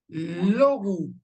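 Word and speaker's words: λόγου: Pero acá no es as, acá es logu. Logu, este diptongo ou no lo pronunciamos ou, sino lo pronunciamos decimos tu logu.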